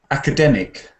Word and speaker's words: academic: Academic. Writing, yes. Say the stress pattern is on the third syllable, like academic.